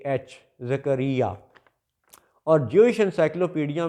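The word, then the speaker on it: Zechariah: पैदा होती है उस जात का नाम है जकरिया अलैहि सलाम तो जकरिया के ऊपर जकरिया अलैहि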